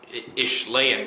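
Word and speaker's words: Ishlaen: I have 3 units of 6 Morsar Guard and 1 unit of 3 Ishlayan Guard, that's how you say it.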